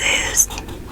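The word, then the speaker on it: 日: square, and the dot in the middle becomes a horizontal stroke. So now we have it. This one is sun. The pronunciation of this one is it's just I.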